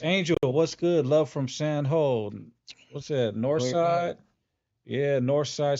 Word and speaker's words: San Jose: San Ho. You know how they get down. That's how they say it. That's how they say it. Sound whole.